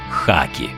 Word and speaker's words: хакі: робити це не доречно жодної підстави міняти в наведеному слові х на г немає бо в написанні латинкою слова гееммінгвей гакер мають літеру H а от хакі буквосполуку K тож слід писати і вимовляти саме хакі я анголи кольору хат